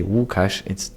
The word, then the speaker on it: Łukasz: So if you say Łukasz, it's how you would say my name in Polish.